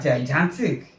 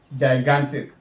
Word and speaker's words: gigantic: Can you hear gigantic? It's not actually gigant, it's gigantic. Gigantic is the right pronunciation.